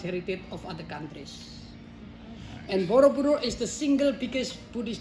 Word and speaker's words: Borobudur: Because the adaptation of our local people, they spell and pronunciate very short and easy for them. Borobudur. And now become Borobudur. Monument on the hill.